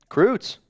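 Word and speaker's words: Kruetz: Croots. That's the brand. They make pancake, other mixes as well. How do you spell that? Is it with a K or C? K. Croots. K-R-U-E-T-Z. It's German.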